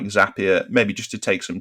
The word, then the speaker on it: Zapier: then that or um zapier or zapier i think i can have i think the zapier is the british pronunciation um so you can use something like zapier maybe just to take